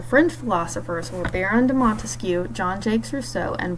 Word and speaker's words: Montesquieu: branches of government because there are three syllables in Montesquieu three branches of government